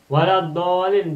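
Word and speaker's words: وَلَا الضَّالِّينَ: Nih, waladdallin do fathah oleh alif berarti mad tabi'i. Bertemu dengan tasdid, maka bacanya menjadi dolin.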